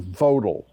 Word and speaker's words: Vogtle: Olkiluoto, Flamanville, Hinkley Point C, and Vodal, which looks like it should be pronounced Vogtle.